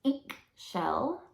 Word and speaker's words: Ix Chel: the goddess of creation and childbirth gestation it's pronounced ink shell and she's a Mayan goddess of the moon